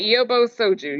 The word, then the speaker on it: Yobo Soju: Alisa, did I did I say it right? Yobo Soju. Yes. Yes.